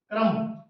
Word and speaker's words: crumb: प्रफुल्लित, कपबोर्ड में अलमारी, क्रम ये भी साइलेंट है इसमें, क्रम का अर्थ होता